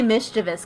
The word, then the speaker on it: mischievous: know which one's correct it's technically mischievous cuz there's no I after the V oh well I think